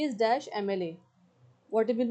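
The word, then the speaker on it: MLA: एम एल ए में एम की sound आ रही है।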